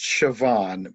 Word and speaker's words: Siobhan: I think Uh, it's pronounced Siobhan because I know another person with that same name, and I was pronouncing it wrong for the longest time until I heard her oh, say it out loud.